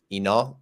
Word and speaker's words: Inal: building in relation to gaming and blockchain um Enoch am I pronouncing your name correctly yes yes Brandon you